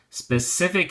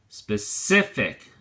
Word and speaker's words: specific: look at your flashcard specific has three syllables and the emphasis or stresses on the second syllable say so we say specific specific it is used